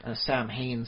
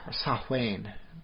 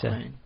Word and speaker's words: Samhain: From the week before Halloween to the 15th or so of November, they're doing their Halloween Samhain season. Ooh. Or Samhain, if you want to pronounce it properly. Samhain.